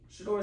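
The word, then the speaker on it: Shedeur: I just want to make sure I'm pronouncing it correctly. Mm-hmm. Shador Sanders already got over 900 something passing yards.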